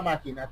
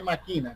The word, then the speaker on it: máquina: un tipo de máquina otra lleva acento en la a Por cierto porque si no dice maquina que es otra cosa partes más importantes de